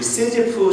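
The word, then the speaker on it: Sisyphe: 근데 20세기의 철학자인 알베르 까미가 그래서 이 시스퍼스를 생각하고 이 시지프 신화를 썼습니다. The Myth of Sisyphus. 네, 프랑스 분이니까 시지프라고 발음하고 시지프 신화.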